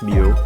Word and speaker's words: Mu: if you don't know moo sometimes pronounced me is a real well